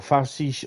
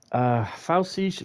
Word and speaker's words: Pfälzische: Pfälzische Ludwigsbahn. Pfälzische Ludwigsbahn. Mannheim Kaiserslautern route preview. It's silent P.